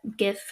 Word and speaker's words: GIF: graphic is a G sound, so it should be hard GIF.